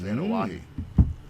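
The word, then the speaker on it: Anoaʻi: up anahi an aahi is correct it is anahi BT check out the big brain on BT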